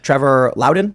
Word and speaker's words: Trevor Loudon: uh we're hanging out with HZ Aldine and Trevor Lowden I'm pronouncing that correctly Trevor L that's correct and